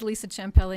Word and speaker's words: Champelle: Lisa Champelle. I'm sorry. No, you did it just fine. Didn't throw any extra syllables in there or anything. My name is Lisa Champelle, and I'm one of